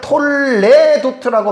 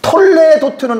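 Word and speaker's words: תולדות: 여기에 라멧의 요 애가 모음이 두 개예요. 점 두 개가. 여기 애 발음이 나거든요. 히브리어가. 근데 대부분 요거를 애로 읽는데 이걸 쉐와라 그래요. 쉐와는 소리를 낼 수도 있고 내지 않아야 될 수 있는 모음 부호입니다. 이 쉐와를 내면 톨레도트가 되는데 이렇게 읽으면 안 된다는 거예요.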